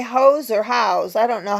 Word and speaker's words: Howes: I just checked with my English husband, and it is pronounced House.